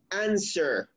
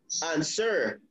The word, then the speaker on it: answer: why because um because the stress goes on the first syllable not on the second one for example look at this what is the correct pronunciation of this verb you say answer answer answer so the